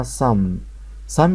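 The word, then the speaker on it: psalm: م دي غريبه شويه البي ماتنطقش والال ما بتتنطق فهني القاعده دي موجوده هنا اللي هي ال اللي وراها ام الال ماتنطقش والام بس تتنطق فالكلمه دي اسمها مم يعني مزمور في الكتاب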